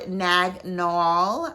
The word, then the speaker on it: Naag Nool: we're gonna talk about nagnol i think that's it's pronounced that way as well um i